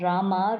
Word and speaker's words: Rama: The words Hare pronounced Hare, Krishna pronounced Krishna, and Rama rhymes with drama are Sanskrit words.